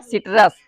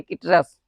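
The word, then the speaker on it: citrus: तो यहाँ पे हिंदी क्या लिखा है, सिट्रस, ना कि किटरस।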